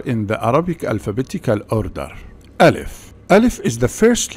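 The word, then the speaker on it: ألف: Alif. Alif is the first letter. Also, Alif is the name of this letter. So, this shape represents Alif. But the pronunciation and the spelling of this letter is Ah.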